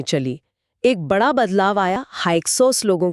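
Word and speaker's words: Hyksos: हक्कस लोगों के आने से हक्सोस एच वाई के एस ओ एस उच्चारण हक्सोस नाम ही बता रहा है विदेशी शासक हां नाम का मतलब ही यही है।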